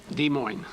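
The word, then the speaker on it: Des Moines: Storm Lake by the way how do you pronounce the state capital de Mo de Mo okay but we have a problem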